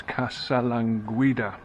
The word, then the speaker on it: Casalanguida: What's the right way of pronouncing it? And it's Casalanguida.